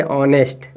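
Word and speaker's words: honest: ए लिखा है इसमें देखिए एच साइलेंट हो जाएगा तो इसको पढ़ेंगे ऑनेस्ट ऑनेस्ट क्या हो जाएगा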